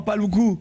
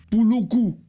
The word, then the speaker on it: Paloukou: Non, Paloukou. Oui. Tu sais quoi? C'est que tu as discuté avec Léa. Et tu as discuté avec Léa, et Léa a compris Pouloukou. Mais je voyais elle prononcer mon nom mal, alors...